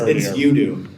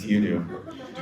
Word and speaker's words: UDU: It's UDU. UDU? UDU. He said it right in the video. It's UDU. Like you do it.